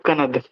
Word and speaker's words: कणाद: सर लिखा हुआ तो उलुग कनद है, आप बोल रहे हैं, प्रोनाउंसिएट कर रहे हैं आप कनाद। मेन कणाद होता है, कनाद। यदि आप स्पेलिंग पढ़ोगे तो KANAD है, कनाद।